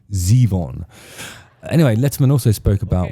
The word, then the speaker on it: Zevon: He introduces it himself and pronounces his own name Zeon.